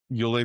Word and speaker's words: Ule: Welcome the new CEO, Yule Monks. You just changed your name. It's spelled ULE.